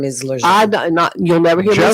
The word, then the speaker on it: Lejeune: I call it Lejeune. There's no R in there. Always have, always will. Never has been an R, but the proper name is Lejeune.